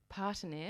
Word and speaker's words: Partenaire: You're talking about Di's business called how do you say Partenaire. Partenaire.